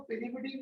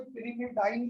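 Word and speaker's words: pyrimidine: तो बेटा कोई इसको पिरिमिडीन बोल देता है, कोई पिरिमिडाइन बोल देता है, तो ये प्रोनाउंसिएशन में मेरे साथ मत जाना इसके।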